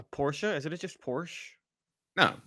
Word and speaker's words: Porsche: is it it just Porsche no the man's name is was Porsche he pronounced it Porsche I'm thinking the car